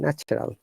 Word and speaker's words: natural: The word natural, you got to be careful, yeah? We have to pronounce R because there is A sound, natural.